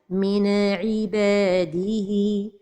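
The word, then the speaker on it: من عباده: Un exemple entre deux mots, min ibadihi. La première erreur, c'est al-qalqalah de an-noun as-sakina. Min ibadihi. La deuxième erreur, c'est de prolonger son temps. Min ibadihi. La troisième erreur, c'est la pause. Min ibadihi. Donc, la prononciation correcte est min ibadihi.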